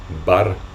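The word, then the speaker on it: འབར: Donc c'est pour ça que c'est pas war, parce que c'est le son ba. On ne dit wa que quand c'est la dernière syllabe d'un mot. Mais ici, c'est le verbe bar.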